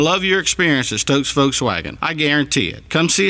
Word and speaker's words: Volkswagen: You're going to love your experience at Stokes Volkswagen. I guarantee it. Come see us today at Stokes Foswagon on Ashley Phosphate or StokesVub.comace at Stokes VDub.